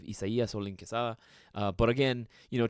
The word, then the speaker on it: Isaias: my real name because isaas isn't actually how you say my name at all uh if I write the whole name out it's actually uh more along the lines of isay uh but again you